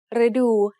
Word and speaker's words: ฤดู: So the word ฤดู has two syllables. The first syllable is made up of the letter รึ It is high tone because it acts like a low-class consonant with a dead syllable ending and a short vowel.